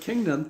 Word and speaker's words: kingdom: So the word kingdom, two syllables, king, dumb. It doesn't mean dumb like D-U-M-B, dumb. It's D-O-M, which is short for dominion, okay?